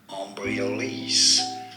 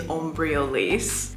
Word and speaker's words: Embryolisse: Embryolisse. Embryolisse. And now you know. Embryolisse. That's the pronunciation we're going with.